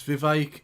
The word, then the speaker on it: Vivek: It's Vivek. It rhymes with cake.